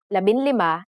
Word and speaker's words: labinlima: For the letters D, L, R, S, and T, the G from NG is dropped to make it easier to pronounce. Labindalawa, labintatlo, labinlima, and labinsyam.